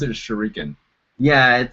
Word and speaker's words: shuriken: Okay, I always pronounced it as shuriken. Yeah, it's probably that's the American. Yeah, that's the American. It's like shuriken. Okay, so there's more emphasis up front.